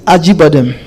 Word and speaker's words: Acıbadem: En principe, c'est Acıbadem. C'est la prononciation. Parce que le C en turc, ça se lit J. Donc c'est par facilité de lecture qu'on dit Acıbadem pour la communication.